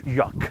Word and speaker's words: yak: Yak. Oh, I like how you say yak. It's like yolk.